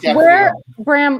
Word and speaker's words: Gaffalione: Drop the E. Just Gaffalione.